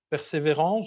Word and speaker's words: Persévérance: En février dernier, il y a eu l'arrivée sur Mars du rover Persévérance, je le prononce à la française, qui constitue une étape importante dans l'exploration de la planète Mars.